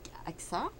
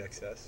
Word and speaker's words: Aksas: Donc, nous avons aujourd'hui avec nous Aksa. Aksas. Aksas. Ah, tu prononces le S à la fin? Oui.